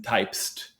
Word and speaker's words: Typst: It's called TYPST, as in Typest. Typest. It's very hard to pronounce.